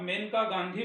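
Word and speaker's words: Maneka Gandhi: And this love story is written by मनेका गांधी, जिसको generally आप मेनका गांधी बोलते हैं. Actually the pronunciation is मनेका गांधी.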